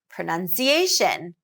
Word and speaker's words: pronunciation: vowel sound as well pronunciation pronunciation primary stress is on the second vowel pronunciation pronunciation so unlike